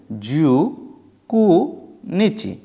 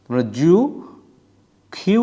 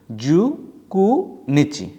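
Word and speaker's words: 十九日: হচছে জু কু নিচি মনে রাখবেন এই নয় কেও কিন্তু দুইভাবে বলা যায় একটা খেউ আরেকটা হল কু আপনাদেরকে মনে রাখতে হবে আমরা তারিখ বলার সময় খিউ ব্যবহার না করে কু ব্যবহার করব জু খিউ না বলে জু কু বলব জু কু নিচি জু কু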